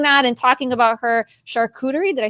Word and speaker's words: charcuterie: going to i don't even know how to pronounce this chartreutery boards how do you say charcuterie charcuterie thank you i better learn that before she